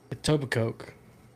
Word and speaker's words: Etobicoke: How would you pronounce this? Etobicoke.